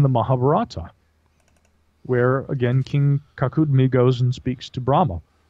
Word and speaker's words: Kakudmi: The Mahabharata, and the story of King Kakudmi is how it's pronounced, but he describes going to heaven to meet Brahma.